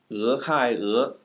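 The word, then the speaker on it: 俄亥俄: E, H-A-I, E, 俄亥俄, 俄亥俄州, the state of Ohio. If it's helpful for you, just put spaces in between the syllables. The letter E, space, H-A-I, space, E.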